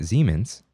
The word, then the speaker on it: Siemens: It's like a German imagine a German person saying it.